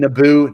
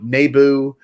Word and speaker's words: Naboo: things wrong like he keeps calling naboo nebu and the gungans this